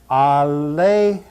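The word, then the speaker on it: ἀλήθεια: Therefore, we will pronounce this word aletheia, aletheia, aletheia, aletheia.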